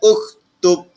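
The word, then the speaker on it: اكتب: Okey, cara bacaan dia adalah uktub. Okey, tulis uktub. Alif baris depan, kaf mati, ta baris depan, ba mati. Uktub.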